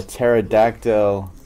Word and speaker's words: pterodactyl: I don't know why because the pee is silent because the pee is